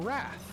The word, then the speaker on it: wrath: a good idea that that word is pronounced wroth rather than wrath?